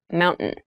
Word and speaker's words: mountain: speech it sounds like mountain the t sound is reduced the little town was